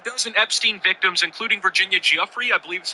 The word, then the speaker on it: Giuffre: About a dozen Epstein victims, including Virginia Giuffre, I believe is how you say that's brother, were seated in the front row of the gallery as the vote got underway.